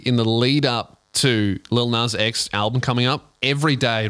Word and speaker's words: Lil Nas X: But also, she wasn't saying Lil Nas X. She didn't. She was mispronouncing it for like weeks. And no one corrected her either, which is great. Little Nas.